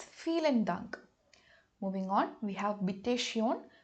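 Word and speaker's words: vielen Dank: use feel and dunk notice that the alphabet v in English when it comes to German has the sound F so it's feel and dunk moving on we have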